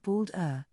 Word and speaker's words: Baldur: balda pronounced bould Old Norse balder Old